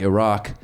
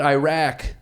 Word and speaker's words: Iraq: He called it Iraq. If I were Saddam, I'd have been pissed. I'd be like, hey, if you're going to bomb us, at least pronounce it right. It's not Iraq, it's Iraq.